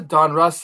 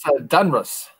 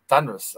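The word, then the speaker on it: Donruss: There's a Don Russ like alternate pronunciation that I hear. Don Reese or something. No, it's Dunruss. Dunruss. I never heard Dunruss. It was always like Don Russ, you know.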